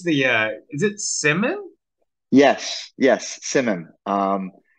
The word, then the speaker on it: CIMIM: conjured up here uh how how do you pronounce the uh is it Simon yes yes Simon um it's a there's there's